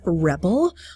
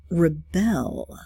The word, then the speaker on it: rebel: So in this case, rebel is a noun. In this particular context, we have rebel, which is a verb. So it's spelled the same way, but when the word is used as a verb, it becomes rebel.